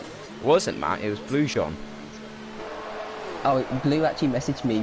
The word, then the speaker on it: Grosjean: That's what I called him before, but then I hear people saying it was Blue Jean.